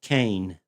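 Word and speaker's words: Koehn: And it's pronounced Kane.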